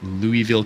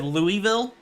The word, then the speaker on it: Louisville: you on one thing as a Kentucky native you said Louisville which oh might be correct it's Louisville Louisville okay Louisville technically it is Louisville but anybody around here is going to say Louisville that's fair I